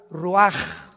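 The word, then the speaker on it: רוח: y exhaló Isaac el Roach así como suena se pronuncia la c en hebreo como J ruaj se les só y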